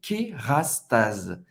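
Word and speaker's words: Kérastase: Kerastase. Kerastase. O S, mais uma vez, tem o som do Z, porque ele está entre duas vogais.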